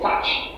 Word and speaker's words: touch: So you see, because of the appearance of these two different vowel sounds, people think it's going to be pronounced as to. It's not to, it's touch.